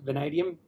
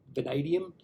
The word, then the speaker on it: vanadium: of march was australian vanadium limited so you pronounce it vanadium vanadium uh they were up 40 finish the day